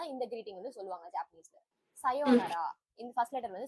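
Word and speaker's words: さようなら: இந்த யோ ப்ரொனவுன்ஸ் பண்ணும்போது அந்த ஊவும் அந்த யோ கூடவே சேர்ந்து ப்ரொனவுன்ஸ் பண்ணிடணும். ஊ தனியா ப்ரொனவுன்சியேஷன் கிடையாது, அந்த யோ கூடவே சேர்ந்து ப்ரொனவுன்ஸ் ஆயிடணும்.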